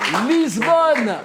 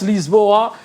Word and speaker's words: Lisboa: Oui, le point encore pour un Lisbon ou Lisboa, hein. Chez eux, ils prononcent Lisboa, capitale du Portugal en Europe.